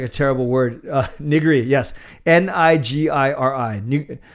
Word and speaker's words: nigiri: Nigiri, yes. Nigiri. You actually say it like nigiri, like that in Japanese.